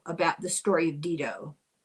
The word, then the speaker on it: Dido: an evil king in Dido, about the story of Dido. Sometimes pronounced Dido, but if you're doing it in Latin, it's Dido.